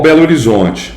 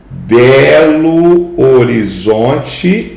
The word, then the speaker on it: Belo Horizonte: Belo Horizonte. Percebe? Então esse fenômeno é um fenômeno fonético. Belo horizonte é na escrita, na hora que eu falo é Belo Horizonte.